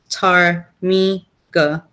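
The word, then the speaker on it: ptarmigan: Early miners could not agree on the spelling of Tarmigna, a local chicken-like bird whose name is pronounced Tarmiga.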